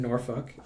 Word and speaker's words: Norfolk: down is, I was at a conference in Norfolk, and that's how you say it.